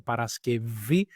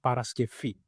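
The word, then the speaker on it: Παρασκευή: Dans la deuxième catégorie, alors pour ça, il prononce comme paraskevi et pas comme paraskefi. OK?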